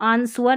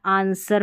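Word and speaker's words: answer: फिर एक ये स्पेलिंग है यहाँ पर देखें, इसको आंसवर नहीं पढ़ना, आंसर पढ़ना है, ये जो गलत प्रोनाउंस कर देते हैं, ठीक है।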